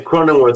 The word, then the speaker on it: Cronenworth: of the guys that they talked about was cronins worth am I pronouncing that right croning cronenworth yeah and he's an infielder right yeah he